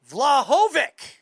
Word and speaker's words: Vlahovic: and author of Just Need an Opportunity, Tony Vlahovic. Tony, what's up, buddy? Hey, how you doing, Erl? Hey, you you you pronounce it beautifully.